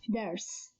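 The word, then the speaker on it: درس: This word consists of three consonants, dal, ra, sin, and only the first consonant is moved, which means it has a haraka, here fatha, so it is pronounced as only one syllable, dars.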